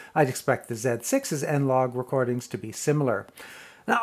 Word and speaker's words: N-Log: from the z7 i'd expect the z6 as n log recordings to be similar now although it's pronounced n log that's really a shortened version